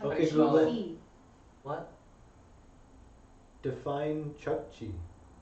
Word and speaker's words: Chukchi: Define Chukchi. It's a place. Okay, Google. Where is Chukchi? I keep thinking I'm saying Chucky.